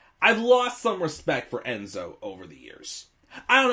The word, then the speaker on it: nZo: know more c and enzo who lures spells his i think he was he would literally spell his name nzo which is would be pronounced enzo which you know would